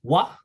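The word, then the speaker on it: は: Today you just use watashi and then wa. By the way, so some people might get confused, but this one is actually pronounced ha, H-A. But in this case, you have to say W-A, wa.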